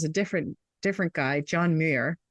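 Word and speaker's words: Muir: different different guy John Mir I don't even know how to pronounce that muui R is that M Mir yeah M yeah um he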